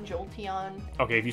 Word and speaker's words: Jolteon: probably like two maybe even three ways to pronounce like every pokemon at this point yeah jolting jolteon okay if you say jolting you're just [